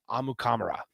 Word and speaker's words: Amukamara: just never told people hey that's not how you pronounce it that's all wrong both of those are wrong amukamara there it is but